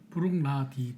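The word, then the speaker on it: Bruichladdich: 술이 뭐가 있죠 일단 브룩라딕 저 발음이 어렵네요 브룩라딕 브룩라디 더라고요 부룩 나디 브룩라디 나디 발음 어려워 그때 그 알려주신 하투 프로나운스 아저씨가 그러니까 브룩라디 끊어서 일 브록 예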